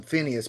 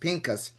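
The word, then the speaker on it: Phinehas: Eleazar's son and and the Bible says it calls him Phineas but it's actually pronounced Pinkas.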